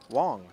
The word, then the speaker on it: Wang: And I've have grown very accustomed to saying Wong here. Although when anglicized, we generally will observe W and then bring pronunciation. And yet with WG, which is simply an alternate spelling of the same last name, I thought you were we go to Wang, which now we go